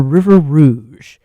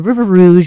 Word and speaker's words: River Rouge: Um, the River Rouge, which is pronounced like that because French because French because fur trapping Detroit blah blah blah.